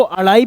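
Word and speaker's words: अढ़ाई: ये स्पेलिंग अड़ाई है, इसको अड़ाई भी बोलते हैं और ढाई भी बोलते हैं।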